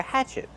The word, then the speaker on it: hatchet: we pronounce Hatchet Hatchet use the open a sound like black cat hatch Hatchet the stress is on the first syllable and what about the letter T at the end use a stop t stop the air Hatchet not Hatchet but Hatchet this is a black